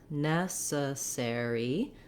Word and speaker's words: necessary: So in necessary, it's long, short, short, short.